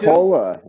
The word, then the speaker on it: Nikola: It's Nikola. Yeah, that's what I thought. Yeah, I thought it was Nikola.